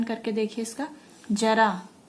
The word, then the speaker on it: जरा: इससे शब्द का अर्थ बदल जाता है, जैसे जरा बुढ़ापा और जरा थोड़ा सा, ठीक है। उच्चारण करने से, सही से उच्चारण करके देखिए इसका, जरा, जरा बुढ़ापा और जरा थोड़ा सा।